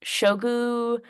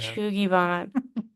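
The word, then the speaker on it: shou sugi ban: It's like shogu, something like that. It's like a way of Fun. Yeah. Shugiban.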